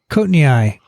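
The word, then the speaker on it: coatneyi: heard of coating how do you say it cotton eye cotton eye yeah he was a courtney was a malaria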